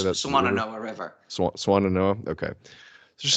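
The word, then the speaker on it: Swannanoa: Swananoa.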